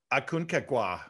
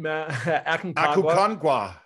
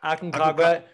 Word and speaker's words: Aconcagua: And then you have Aconcagua. Yeah, not quite. Aconcagua. Aconcagua.